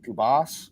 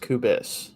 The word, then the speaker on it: Kubis: your last name is kubas or kubis it is pronounced kubis so it's it's the is at the end not ass so he was he